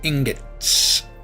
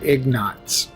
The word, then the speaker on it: ingots: 2 more electronics, 2 more kaolinite, and 10 more ingots. One of my old Latro buddies used to pronounce that word ignots.